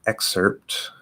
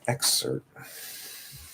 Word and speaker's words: excerpt: What I would actually do, probably more likely, is drop the T and keep the P.